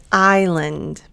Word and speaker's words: island: And next one, I as in island. Notice the S is silent.